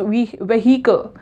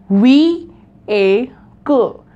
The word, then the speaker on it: vehicle: seems that it is we meheeco some people pronounce like vehicle right but it is not vehicle it's vehicle we a cool vehicle again as I